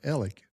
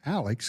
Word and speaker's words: Alex: Well, don't get too confused that it's called Ell. Now, people get confused thinking it's Alex because it's spelled A L E X, named after Mr. Alexander, but they call it Ell.